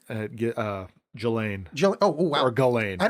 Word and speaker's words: Ghislaine: Ghislaine. Oh, wow. Or Ghislaine. I don't think I've ever heard it out loud. Ghislaine. Okay, so on the first day of her trial, I like to say Ghislaine, but like 3 major CEOs left their positions.